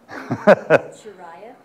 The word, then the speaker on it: Shiraya: How do you say Ved's last name? Shiraya. Say it again. Shiraya.